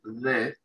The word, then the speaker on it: the: se pronuncia de, la TH se pronuncia con un, muy parecida a una D, no es nuestra D, es muy parecida, y la E es muy parecida a nuestra E, pero tampoco a nuestra E.